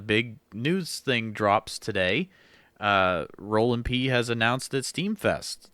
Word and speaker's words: Roelandp: It's spelled Roelandp, Roland P, on STEEMIT.